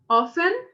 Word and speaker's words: often: Always, always, usually, usually, j, usually, often, often, mas se quiser pronunciar também pode, often, often, vocês vão ouvir dos dois jeitos, com o T pronunciado e não.